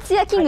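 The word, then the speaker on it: ツヤキング: う、ツヤ、これでツヤキングって読むんですか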